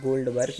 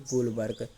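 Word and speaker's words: Goldberg: गोलबर्ग है, इसमें गोल्डबर्ग लिख गया है, या फिर गोल्डबर्ग या इन्हें गोलबर्ग, दो नाम आते हैं, तो दो में से कोई भी लिख सकते हैं, क्योंकि इंग्लिश नाम है तो कहीं कहाँ क्या बोलते हैं, डी साइलेंट कर देते हैं।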